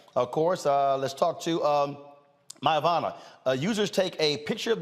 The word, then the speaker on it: Myavana: First of all, am I pronouncing it correct? Yes, that's correct. All right. Myavana.